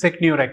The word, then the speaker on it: SecneurX: How do you pronounce this? SecneurX.